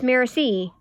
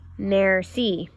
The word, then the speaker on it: merci: how to say thank you in French it's merci you say it like this merci that evening I tell my family about fancy